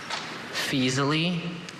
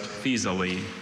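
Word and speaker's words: Faesulae: Fasily. Fasily. Any alterations? Just feasely.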